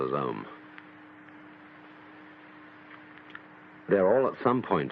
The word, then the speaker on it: Om: rather than its meaning chief of these is the syllable om or Al called the prava or the sound of God because it involves the whole range of the voice from the back of the throat to the lips take the tone from